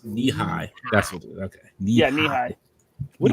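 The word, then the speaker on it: Nehi: i'm not a monster can and stuff says pronounce knee-high okay yeah knee high what about ranch dress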